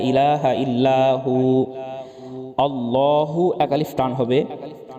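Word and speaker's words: الله: আল্লাহ শব্দের উপরে খাড়া জবর আছে। আমরা অনেকে আল্লাহ বলি, আল্লাহ বলা যাবে না, কারণ আল্লাহ শব্দে ডানের অক্ষরে জবর বা পেশ থাকলে আল্লাহ পুর করে পড়তে হয়, আর জের থাকলে বারিক করে পড়তে হয়। এখানে আল্লাহ শব্দের ডানের অক্ষরে জবর আছে, সুতরাং লহ পুর করে পড়তে হবে।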